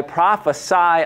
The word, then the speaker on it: prophesy: was prophecy right that it's pronounced differently if it's the noun versus the verb right i i prophesy a prophecy uh but